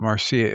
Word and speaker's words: Marcia: It's M A R C I A but it's Marcia is her pronunciation.